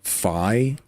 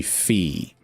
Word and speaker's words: Fi: a little too there's not enough there to indicate that it's supposed to be pronounced fi like it's supposed to be fee but then somebody also